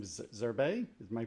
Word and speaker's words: Zerbe: Now, I think, you know, one of the things, Anthony, I think his last name is Zerbe. Am I pronouncing that right? Zerbe.